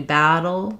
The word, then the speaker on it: battle: And what's challenging there is when I do battle, dull, battle, I have to change the shape of my tongue. It's staying put on both the d and the touch behind the teeth, but the air escapes from the sides.